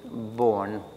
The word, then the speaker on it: Born: s l e y born like the um like the physicist um born b o r n at at a different period and Miss grish brooksley born had been also head